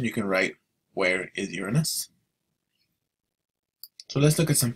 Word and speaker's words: Uranus: cor Now notes on the planet Uranus it's pronounced Uranus by the way and then go ahead and